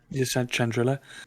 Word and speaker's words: Chandrila: I mean, I wonder whether the people of Chandrila, is that how you pronounce where she's? Chandrilla, yeah. Chandrila.